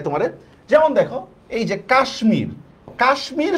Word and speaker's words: কাশ্মীর: যেমন দেখো এইযে কাশ্মীর কাশ্মীর শব্দের মধ্যে দেখো আমি হচ্ছে ম এর উচ্চারণ করি অথচ আবার দেখো গ্রীষ্ম